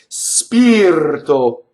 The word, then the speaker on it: spirto: Spirto. Spirto touches a T, it's rolled.